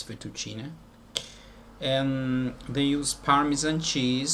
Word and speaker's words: fettuccine: In Italian it's fettuccine. And I know in English they say fettuccine, but okay, it's fettuccine.